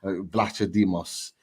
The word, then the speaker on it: Vlachodimos: Okay, Odyssey's Vlachodimos. You've been practicing. Yeah. I spoke to one of the Forest guys, and he pronounced it in a particular way, and it's Vlachodimos is the pronunciation.